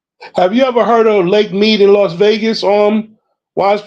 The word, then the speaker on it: Lake Mead: I'm sure Lake Mead is it's either because some people pronounce it Lake Med, Lake Mead. But MEAD.